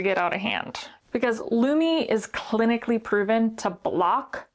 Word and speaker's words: Lume: So this is Lumi. Rhymes with gloomy. Lumi deodorant is a whole body deodorant for pits, privates, and beyond.